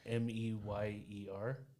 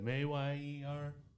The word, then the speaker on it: Mayer: It's not Meyer in the song. It's Mayer. My baloney got it.